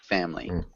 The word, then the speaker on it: family: Close. 2 syllables. No I sound here. Family.